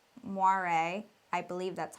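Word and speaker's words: moiré: It's called moire, I believe that's how it's pronounced, and basically creates an optical illusion of banding in some clothing that has really small repetitive patterns.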